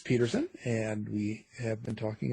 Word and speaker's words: Pederson: So it looks like Pederson, but it's pronounced Pederson.